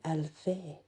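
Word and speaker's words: aelfe: comes from because the original word is a-e-l-f-e Alfie so yeah if anybody didn't know that's exactly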